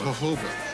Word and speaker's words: jojoba: This is not No, the J is pronounced H, as jojoba. The reason that it's pronounced jojoba is because of it's grown in Mexico, and that's where the bean primarily came from.